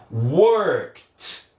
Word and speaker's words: worked: Vai ter som de T, então vai ser worked. Worked. Ó, eu vou do K direto para o T, ó.